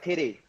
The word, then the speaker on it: Titi: Titi. That is a real. We'll pronounce it like titty.